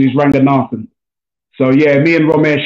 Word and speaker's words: Ranganathan: A lot of people on TV say Ranganathan. His family are from Sri Lanka, and the correct pronunciation is Ranganathan.